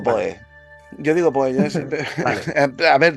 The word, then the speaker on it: Poe: que depende no porque lo correcto sera decir algo así como Edgar Alan p yo digo Poe yo digo Poe a